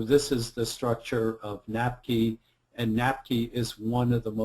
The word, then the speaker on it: NAPQI: written the abbreviation for, the acronym, and I pronounce it NAPQI. So this is the structure of NAPQI, and NAPQI is one of the most toxic substances in the body.